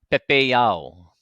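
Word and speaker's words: pepeiao: we hear this e in our word pepeo can you hear the difference I'll say it without an e AU and now I'll make sure that I get this e in there in my pronunciation oh Pepe Yao okay all right and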